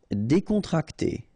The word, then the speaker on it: décontracté: Décontracté. Okay, so you've got accent aigu here and here, so it's e.